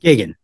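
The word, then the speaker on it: Geoghegan: speaking of geniuses yeah absolutely how do you pronounce his last name Gigan gig Gigan perfect awesome thank Ryan you were right I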